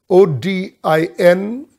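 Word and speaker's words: ὠδίν: and the term sorrows there is the word odin o d i n it's pronounced odin and it means birth bangs i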